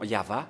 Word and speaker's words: Yahvah: a le nom de yayava qu'il a bien prononcé et pareillement avec Moché à l'époque d'Abraham il a invoqué le nom yava mais avec Moché il a en a précisé